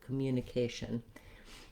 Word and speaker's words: communication: then mu commu communication this letter i can say the uh sound like a schwa or you could do it as an reduced file communication communication it's not going to make any difference in the ears of the listener as long as you're very quick and light and lacks on that vowel communication then i have